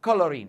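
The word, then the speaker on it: chlorine: الصراحه اللي بيميز نطق كلمه كلورين مش الاتش لان انت ما بتنطقهاش حرف شين انت بتنطق كولورين فبنحطها بكلمه سي ال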